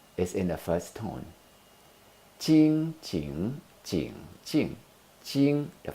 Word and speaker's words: Ching: second tone Jing is in the first tone ching ching ching ching ching the first own so the proper pronunciation of tada Ching is how the gim